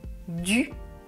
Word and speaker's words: du: Ensuite, deuxième paire, je prononce du, du. La langue touche les dents.